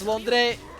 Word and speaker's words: Londrekia: It's Londrekia? Londrekia. Okay, Londrekia.